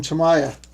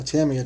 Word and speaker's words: Tamiya: I got this tape from Tamaya, or Tamiya, depending on how you want to pronounce it.